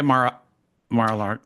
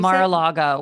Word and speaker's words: Mar-a-Lago: And Did you that's where drive by Mar-a-Lardo? How do you say it? Mar-a-Lago.